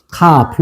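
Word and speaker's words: כף: 카프예요. 카프. 뭐라고요? 카프. 카프. 자, 카프는 렇게 씁니다. 카프. 자, 읽어 보세요. 카프.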